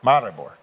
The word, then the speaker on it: Maribor: just was told for the restaurants here in Marabal, is that how I pronounce it? Marbor. Maribore.